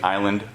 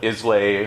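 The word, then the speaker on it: Islay: beacon beacon was the island of Iowa spelled i-s-l-a-y so you might hear people call it Isley or Isley but it's pronounced Isla the island of Iowa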